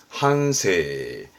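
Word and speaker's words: 反省: 단어입니다 발음은 한노 반응하다 한노 한노 그리고 반성이죠 발음은 한세 한세 그 다음에 요거는 칡 규칙의 측자죠 발음은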